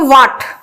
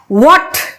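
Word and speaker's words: what: एच एच ए टी बोलते हैं उसको व्हाट दैट इज रोंग हमें बोलना क्या है व्हाट ह का साउंड बीच में महसूस होना चाहिए आर सॉरी के एस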